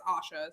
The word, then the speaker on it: Asha: Also, you do pronounce my name right. It's Asha. So Asha. Okay, got it.